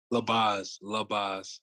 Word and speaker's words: Labaze: Labaze. Oh, Labaze.